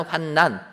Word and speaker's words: 환난: 니은으로 끝나는 환난은 환난으로 읽어야 되는 겁니다. 이게 국문법에 맞다라는 거예요.